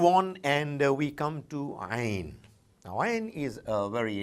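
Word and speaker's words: ع: It comes from deep inside the throat, a very special sound, Ain, Ain. We people belonging to the subcontinent quite often struggle to bring it out from the right place.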